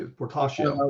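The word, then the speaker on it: Portacio: um so so will fertacio and i might be saying his name incorrectly no you actually you're saying it correctly portasha was working on wet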